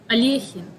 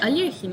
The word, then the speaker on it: Alekhine: Oh, Alyekhin. Yeah, Alyekhin is said in Russian. Yeah, Alyekhin. Just Alyekhin.